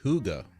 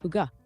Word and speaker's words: hygge: Okay, so pronounced Huga. Yep, exactly. Huga.